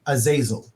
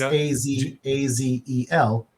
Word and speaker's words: Azazel: it's literally you know Azazel well it's a z a-z-e-l but it's it's not a a zazel it's Azazel